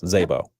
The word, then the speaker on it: Szabo: It's spelled Szabo, Szabo. Yes. Just like it sounds, Szabo.